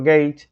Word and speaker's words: Gage: i n a s Fineas y el apellido gage se escribe g a g e gage como si